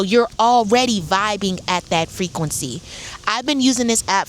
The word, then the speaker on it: FRQNCY: It's called Frequency, and it's spelled FRQNCY.